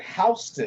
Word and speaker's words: Houston: a street on Staten Island in New York it's spelled Houston Street. They call it Houston.